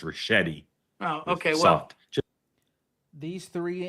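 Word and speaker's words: Ricchetti: His name is pronounced Rashetti.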